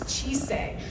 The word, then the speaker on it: Chise: For pronunciation, again, it is Chise.